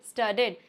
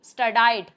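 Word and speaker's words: studied: यहां पे मैंने एक स्टूडेंट को बोलते हुए सीखा था। स्टडाइड। स्टर्डाइड। ऐसा कुछ भी नहीं होता है। ऐसा कोई वर्ड प्रोनाउंस करते ही नहीं है। इसको बोलेंगे स्टडेड। सिर्फ और सिर्फ आप डी का साउंड बोलिए।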